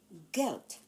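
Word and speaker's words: Geld: Take note of the D at the end of the word. It is pronounced as t guilt and the buy on me.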